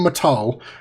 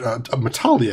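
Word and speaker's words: Matale: Alan Matal has approached, Matali, I think is how they pronounce it actually, has approached the Jedi Council and demanded action.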